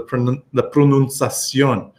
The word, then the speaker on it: pronunciación: The only difference is the pronunciación. Okay? Pronunciation is an ION word. Pronunciación. So I'm putting the stress on the last part of that ION.